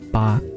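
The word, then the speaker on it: 八: Yeah, so the number is pronounced ba with a b, and then the word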